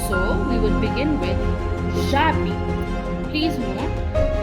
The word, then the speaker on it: j'habite: So we will begin with j'habite. Please note, read them as if they were one word, J and A, and the H is silent. So J plus A is ja, j'habite.